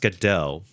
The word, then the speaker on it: Godot: It's actually pronounced Godot, even though it's spelled like Godot.